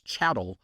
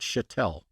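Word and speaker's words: chattel: mispronounced it every time it's chatt not chatel I'm from Louisiana I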